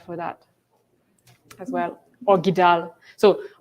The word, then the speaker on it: GDAL: Y para programar, pues R o Python, y para como que sea específico para GIS, GIDAL. GIDAL. GIDAL. Yeah. Y algunos otros por ese estilo. GIDAL. Can you spell it?